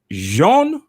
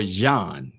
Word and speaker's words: Jean: from liberia am i is it jean or john it is jean yes it's a french name it's jean very frequently okay well